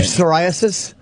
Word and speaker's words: psoriasis: psoriasis? That is a silent P.